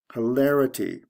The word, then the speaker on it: hilarity: Hilarious, hilarity. The stress goes from the second to the third syllable, IOUS to ITY, or if you want to consider the ITY as part of the ending, it would just be OUS to TY.